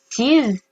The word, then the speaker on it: sees: Donc là, comme vous pouvez l'entendre, je prononce bien le S. D'accord? En français, le S est une lettre muette. Le S n'est pas une lettre muette en anglais. Donc, vous entendez bien la différence entre see, sees.